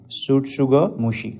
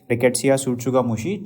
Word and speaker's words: tsutsugamushi: That we used to call it as Rickettsia tsutsugamushi. T is silent over here, okay.